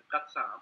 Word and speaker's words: Ghassan: Look, sorry, but you've got to get the pronunciation right. My name is Ghassan or Ghassan and Bassem.